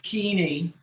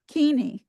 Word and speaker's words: Kuehne: It's Kuehne. Kuehne. Okay. The U is silent and the E is long.